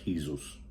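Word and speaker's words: Jesús: they're talking about um the 17-year-old right back Jesus it should be pronounced Jesus en castiano Jesus uh fora you might want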